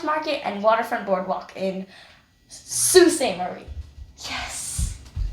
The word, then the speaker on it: Sault Ste. Marie: long segment of the road trip, heading to Sault Ste. Marie. That's not how you say it. Sault Ste. Marie. We check out the beautiful Aquasabon Falls and visit Farmers Market and Waterfront Boardwalk in Sault Ste. Marie.